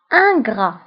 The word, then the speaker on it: ingrat: ناكر للجميل، يعني الشخص إذا كان ناكر الجميل أو غير شاكر أو غير ممتن فكيتسمى ingrat، ingrat، ingrat. فانغرا كنكتبوها بالتف اخر الكلمه ولكن لا تنطق.